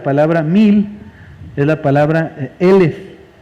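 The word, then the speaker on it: אֶלֶף: la torá la palabra mil es la palabra elef elef se escribe igualito que alef sin embargo lo único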